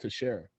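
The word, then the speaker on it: Teixeira: name was spelled the same way and it's pronounced to share like sarah that's like lasagna no it's not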